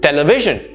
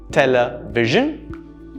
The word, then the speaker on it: television: Television. Television. Television. Right? So it's not television, it's not 3 sounds, rather it's television. 4 sounds. Television.